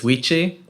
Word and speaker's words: Wichi: everyone my name is wichi that's it that's my speech thank you goodbye now uh which he like quiche with a w uh pronouncing him his